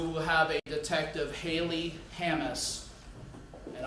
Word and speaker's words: Hammis: We will have a Detective Haley Hammis, and I want to make sure I pronounce that right, it's Hammis.